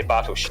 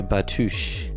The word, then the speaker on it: Bartush: Is that Bartush? Yeah, Bartush, yeah. Bartush, yeah. I want to pronounce it with an U, though, Bartush.